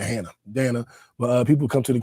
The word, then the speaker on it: Danna: I teach people to pronounce my name Dan like Hannah yeah true true I